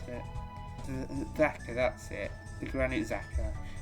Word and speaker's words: Xhaka: How do you pronounce it? Xhaka, that's it.